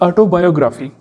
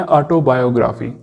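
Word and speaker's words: autobiography: Prelude है ये ऑटोबायोग्राफी। अच्छा, यहाँ पर थोड़ी सी प्रोनाउंसिएशन की बात भी कर लेते हैं। इसको मोस्टली लोग कहते हैं ऑटोबायोग्राफी, लेकिन इसकी जो असल प्रोनाउंसिएशन है ना, वो ऑटोबियोग्राफी है, बियोग्राफी।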